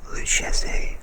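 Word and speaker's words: Lucchese: the list is the luchazei family and that is spelled l-u-c-c-h-e-s-e the luchese family and what is shocking to me is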